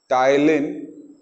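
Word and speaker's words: ptyalin: और उस एंजाइम को हम बोलते हैं टाइलिन। इसमें पी साइलेंट है।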